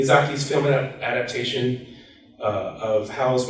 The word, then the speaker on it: Miyazaki: Uh in 2004, Housewoman Castle was adapted into an acclaimed animated film by Hayo Mizaki Miyazaki, further expanding her global audience.